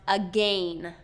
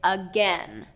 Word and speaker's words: again: I hear it commonly pronounced again, but it's not again, it's again. That vowel has been reduced from the A to the E.